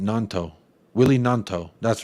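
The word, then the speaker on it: Gnonto: Nanto. Willie Nanto. That's right. I know the G is silent, but I just didn't know if it was Nanto or Noto.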